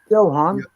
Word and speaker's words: Johann: my Presley's one okay j-o-h-a-n-n they pronounce that as a Yohan yeah yeah yeah yo